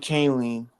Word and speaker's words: Kahnle: There's so much, Tommy Canley I don't know how to pronounce his Tommy name. Kahnle.